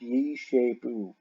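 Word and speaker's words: Giscapu: Saxon writings you have Yeshapu. Now it's spelled Giscapou, but it's pronounced Yeshapu, and that means to shape, Shapu.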